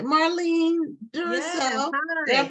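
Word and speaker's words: Marline Duroseau: Marlene Duroseau. Did I Hi.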